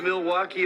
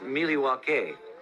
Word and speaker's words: Milwaukee: Come to Milwaukee often? Actually, it's pronounced Milwaukee, which is Algonquin for the good land.